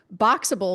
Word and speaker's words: Boxabl: Boxable, which is spelled Boxabl, that's a modular home company.